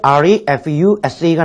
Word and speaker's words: refuse: 먼저 garbage나 그 다음에 refuse가 나왔는데 이것도 뭘까라는 생각이 들죠. 보통 refuse라고 보통 발음을 하는데 이 refuse는 동사로 뭔가를 거부하다라고 할 때 쓰는 말이고요.